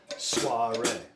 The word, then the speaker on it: soiree: it up it's a French word and it's pronounced small ray see if you can figure out what is that word nina soiree alright let's look at our next list of